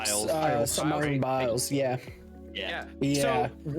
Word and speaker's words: Biles: How do you pronounce her last name? Biles.